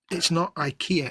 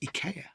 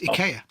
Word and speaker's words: IKEA: It's in the same way that uh I never real IKEA, it's IA. Oh, is it? Oh, well. Yeah, it's IA.